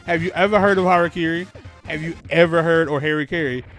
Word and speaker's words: harakiri: heard anybody pronounce it harry carey just know that those people are from the 90s and early 2000s harry carey is one of the like the idiot western ways of pronouncing harakiri and i'm saying it